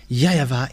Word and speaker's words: YAHVAH: In Eastern part, the W for them, they pronounce it as V or B.